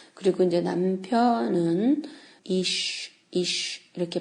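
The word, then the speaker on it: אִישׁ: 그리고 이제 남편은 이쉬 이렇게 발음이 되는데 그래서 남편으로부터 나왔기 때문에 아내다라는 그런 이제 그 이름을 그렇게 짓죠.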